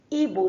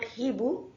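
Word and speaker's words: hibou: Now, letter H is mostly silent in French. We have seen earlier that word ibu means owl was pronounced as ibu, not hibu, ibu.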